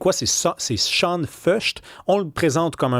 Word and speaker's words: Sean Feucht: Ça c'est c'est un nom de famille un peu allemand donc la prononciation est bien est bien demon ça commence. C'est pas Shan Feuch, c'est Shan F.